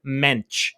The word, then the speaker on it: Moench: his name — Doug Moench — it rhymes with "bench;" it's just spelled in a way where you may not think that.